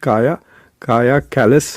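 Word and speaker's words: Kaja Kallas: तो इनका नाम है काया लिखते हैं लेकिन इट्स प्रोनाउंस काया कैलस है।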